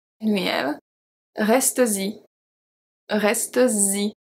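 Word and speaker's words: restes-y: Reste-y. Z. Reste-y. Okay? So this is very specific to the pronunciation and the spelling.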